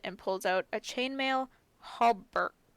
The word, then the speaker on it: hauberk: Arya helps him push it around a bit, and after they're done, he opens it and pulls out a chainmail hauberk.